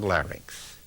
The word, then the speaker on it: larynx: a jigs here's a model of the human larynx that's l a r y n n x sometimes mispronounce LX look at it carefully it's Linx